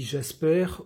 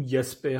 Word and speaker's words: Jasper: l'excellente chaîne de Mady Jasper ou yasper si on prononce à l'allemande puisque Mady est une